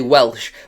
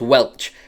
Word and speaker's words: Welch: I'm going to have a lot of problems trying to say his name because you want to say Welsh, but it's just Welch, which makes it really difficult.